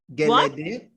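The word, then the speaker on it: Gelede: Oh, yes, I'm saying something, pronouncing wrong. Yes, Geleday. Okay, tell me. Geleday.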